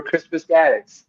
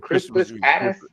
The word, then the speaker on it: Crispus Attucks: How many people remember Crispus Gaddis? Or how do you pronounce his name?